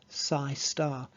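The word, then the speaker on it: ψ*: that with this asterisk you'd pronounce that psi star the complex conjugate so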